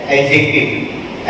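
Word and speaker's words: adjective: Inspiring speech, तो यहाँ पर ये जवाब है एडजेक्टिव। एडजेक्टिव के अंदर भी डी जो वो साइलेंट है ना। एडजेक्टिव ऐसे इसको तलफ्फुज़ नहीं किया जाता, एडजेक्टिव डी को साइलेंट पढ़ा जाता है।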